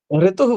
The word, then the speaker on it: ऋतु: है ऋतु ऋतु मतलब ऋ के उच्चारण जो बताया गया है ना कि मुर्दा पे ले जा पीछे फोल्ड कर दीजिए पीके की तरफ तो उसमें हल्का सा ए का स्वर लगे ए मतलब ए दीर्घ